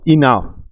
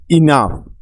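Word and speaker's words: enough: আফ রাফ রাফ মানে রুক্ষ নেক্সট শব্দটি হলো ইনাফ ই এন ও ইউ জি এইচ ইনাফ ই এন ইন ও ইউ জি এইচ আপ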